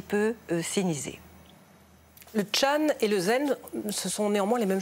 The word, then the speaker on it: zen: Et Chan est la prononciation chinoise du caractère qui en japonais se prononce zen. Et en coréen, puisque c'est aussi une école qui s'est installée en Corée se prononce sonne.